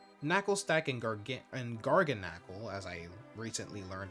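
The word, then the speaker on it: Garganacl: Knackle stack and gar and garnacle as I recently learned it's pronounced.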